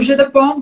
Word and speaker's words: Jeu de Paume: O Jeu de Paume, que é um jogo que era jogado inicialmente